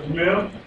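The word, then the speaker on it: מם: Letter Mem is pronounced like an M in our alphabet.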